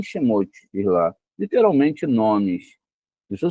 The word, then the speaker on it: Shemot: Não pronuncie Shamote, mas sim Shemote, diz lá, literalmente nomes.